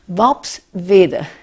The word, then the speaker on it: Worpswede: It's difficult to pronounce for Americans. Vopsvede.